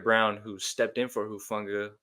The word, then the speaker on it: Hufanga: Hufanga.